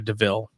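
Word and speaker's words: de Vil: kind of, in the cartoon, she's driving a DeVille. And that's Yeah. where, and then in the And she cartoon, and steals it. she's like, oh, this is a DeVille.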